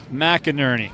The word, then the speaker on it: McInerney: It's McInerney. McInerney. Yes, sir.